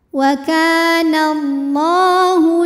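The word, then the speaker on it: الله: panjang kafnya dua harakat wall lam pada lafaz Allah dibunyikan secara tafhim karena nunnya ini baris fathah maka cara bacanya adalah dibunyikan dengan tebal ya pangkal lidah kita naikkan jadi bunyinya la wallah kemudian hukum Alif lamnya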